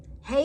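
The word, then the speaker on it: הא: Hey is pronounced like a H in hello, or like in English, it is used to end a word of a name.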